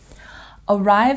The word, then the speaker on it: arrive: Arrive has stress on the second syllable.